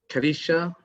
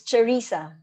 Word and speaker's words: Charissa: Thank you so much, Robin sir, Paul sir, and Karisha. Am I pronouncing it correctly? It's Charissa. Ah, Sharisa.